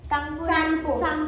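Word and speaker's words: Tsangpo: जब तांगसो रिवर, ये क्या है, सांगपो रिवर, इसमें टी साइलेंट होता है, ठीक है?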